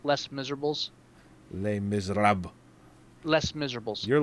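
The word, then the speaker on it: Les Misérables: Just for the record, it's pronounced Les Miserables.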